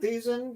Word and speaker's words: Thiessen: Thiessen, yes.